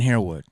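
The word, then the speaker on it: Harewood: Find out how Dorian, how do you pronounce his last name? Dorian Herwood.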